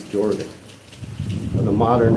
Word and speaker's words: Jorvik: You know I want to make that J and H. Now call it Horvik. That's from Spanish, but I think it's Jorvik.